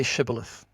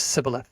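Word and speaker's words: shibboleth: some sort of um there's a biblical term shibilith and he said he said can you see shibilith And the and the response was cibilith. He could not pronounce it.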